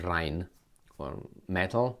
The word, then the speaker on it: Rheinmetall: 2023 that Rhine metal which I will pronounce is Ryan or metal not the ring or anything else uh and I'm quoting